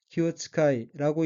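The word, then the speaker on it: 気遣い: 넷째 줄 첫 번째 어기는 한자가 기운기, 보낼 견자이고 일본어로는 키오츠카이라고 읽으며 키오츠카이는 신경을 쓰다, 마음을 쓰다는 뜻의 수고인 키오츠카우의 마스형 키오츠카이마스에서 마스를 떼고 뒤에 쉼표가 붙는 것으로 키오츠카이는 신경을 쓰고 란 의미입니다.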